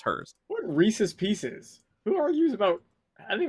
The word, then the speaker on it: Reese's Pieces: Yeah, it rhymes. Unless you mispronounce pieces. I've never heard anyone like fight over how to pronounce Reese's pieces. Unless you Yeah. Unless you're like Reese, like Rice's Pisces or something. But that's not right. So like southern. It's supposed to rhyme.